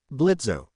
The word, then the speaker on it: Blitzo: Blitzo, the O is silent.